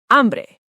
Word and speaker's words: hambre: But in Spanish, the H is completely silent. Always, no exceptions. Hola, not hola, just hola. The H is invisible. Hola, hablar, hacer, hambre. Hablar, to speak, not hablar, just hablar.